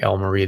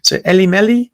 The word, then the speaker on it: Elle Marie: They didn't know how to say like Elle Marie. They say Ellie Melly, Ellie Melly, so it was just sort of a joke.